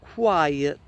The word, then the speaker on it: quiet: But if I move the E before the T, it becomes quiet.